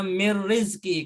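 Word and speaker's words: مِنْ رِزْقٍ: Kita bacanya mir rizki. Karena dalam ilmu tajwid nunnya ketemu ra itu adalah idgham bila gunnah.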